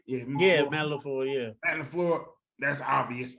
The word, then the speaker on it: LaFleur: Of course, I'm gonna go with McFleur. I'm gonna go with did I say his name? Yeah, Matt LaFleur, yeah.